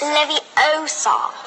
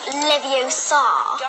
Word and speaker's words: Leviosa: someone's eye out besides you're saying it wrong it's leviosa not livio expecto patronum you